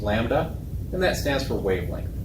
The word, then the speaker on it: lambda: We give it this symbol, lambda, that weird looking Greek L is pronounced lambda, and that stands for wavelength, the distance between two peaks.